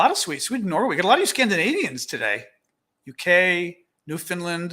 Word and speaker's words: Newfoundland: of scandinavians today uk new finland which i learned to pronounce correctly a while ago um used to pronounce it newfoundland because you know pennsylvania